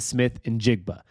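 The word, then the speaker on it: Smith-Njigba: And I did some YouTube searching on how to say it, so I know I'm saying it right. Jaxon Smith Njigba.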